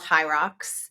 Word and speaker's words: HYROX: They're called High Rocks, and my kids and kids of my friends